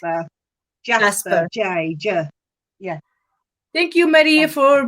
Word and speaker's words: jasper: talk about the red gas uh is it gasper jasper how do you say it's uh jasper yeah thank you maria for being there thank